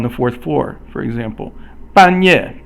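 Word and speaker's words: 半夜: 半夜 is both fourth tone, and so 半 means half, and 夜 means night, so it's midnight.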